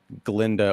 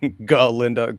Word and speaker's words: Galinda: started to click with Galinda, or Galinda, because the G is silent.